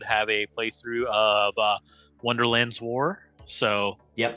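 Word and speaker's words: Wonderland's War: wonderlands War so yep not Wonderland Wars wars wonder he said it right the first time wonderlands War fantastic did you say it right the first time or did you say it wrong the first time now I can't remember I I it is wonderlands war that's what I thought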